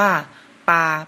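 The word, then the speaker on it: 八: นะ ครับ เลข 8 ภาษา จีน อ่าน ว่า ปา ก็ จะ เริ่ม ขีด ด้าน ซ้าย ก่อน นะ ครับ แล้ว ขีด ด้าน ขวา ตาม ลำดับ ครับ ภาษา จีน อ่าน ว่า ปา แปล ว่า เลข 8 ครับ เลข ต่อ ไป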